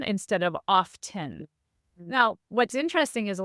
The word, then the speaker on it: often: became started becoming pronounced often instead of often now what's interesting is a lot of times you'll hear people say often today you hear that reinsertion of the T because it's a spelling pronunciation so we see it